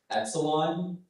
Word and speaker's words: epsilon: Epsilon is the main pronunciation.